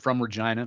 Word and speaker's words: Regina: He's a Regina guy from Regina, the city of Regina. Just for our American friends there. The city that rhymes with fun.